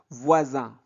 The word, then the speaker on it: voisins: Voisin, voisin. S ici est muet, donc c'est la marque du pluriel.